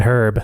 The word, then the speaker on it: herb: was like okay so maybe they're pronouncing the the the H and her and herb and that's the